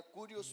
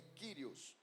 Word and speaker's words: Kyrios: Aí está Kyrios porque é assim que escreve, mas a pronúncia é Kyrios.